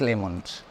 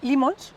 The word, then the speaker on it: Leemons: detalle Qué qué es lemons pues limons limons perdóname limons por la por la doble no prácticamente nadie lo pronuncia Bien bien y y el